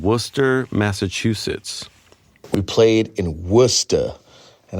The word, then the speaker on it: Worcester: We played in Worcester, and I say that in a New England accent. That's how you pronounce the city, not Worcester, Worcester.